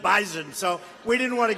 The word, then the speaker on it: Bison: I said, I thought it was an S. They said it is, but it's pronounced bison.